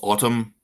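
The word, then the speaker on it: ATUM: This big project coming out called Autumn. It's spelled A T U M, but I've read that it's supposed to be pronounced like autumn.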